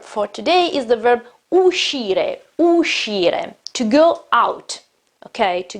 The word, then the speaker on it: uscire: Also in this case, the pronunciation, same rule as before. We have SC, we have E after SC, so it is uscire, it's not uscire.